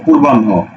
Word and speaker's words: পূর্বাহ্ন: পূর্বাহ্ন, পরশু র, পুর বান হকারে হো, পূর্বাহ্ন।